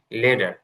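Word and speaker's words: letter: এই টি এর উচ্চারণ হবে হচ্ছে আহ ঠ আর ড এর মানে মাঝামাঝি, লেডার, না, ড আর যে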